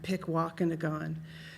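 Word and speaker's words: Pikwàkanagàn: A lot of people struggle with pronouncing that, Pikwakanagan.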